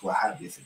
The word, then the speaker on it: Wahhabism: That's what it is pronounced. Wahhabism. That's how it is pronounced. They follow a very strict form of Wahhabism.